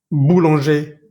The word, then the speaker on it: boulanger: No vamos a pronunciar esa R final. Por ejemplo, en la siguiente lista. Danger, boucher, boulanger, cahier, papier, quartier, premier, dernier, léger, entier, pommier, bananier.